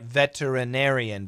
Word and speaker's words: veterinarian: that Ranieri in write veterinarian veterinarian with a flap T veterinarian however in daily English we reduce it by a syllable and we do not